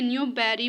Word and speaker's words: Newbury: अच्छा ये आज ना ये जो अमेरिकन प्रोनाउंसिएशन है इसमें न्यू बैरी बोलते हैं कुछ तो दूसरे में न्यूबरी है. It depends.